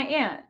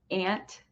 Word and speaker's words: aunt: Different people in different parts of the United States pronounce aunt differently. Some may say aunt, so that's my aunt. I'm from Iowa, I say that is my aunt.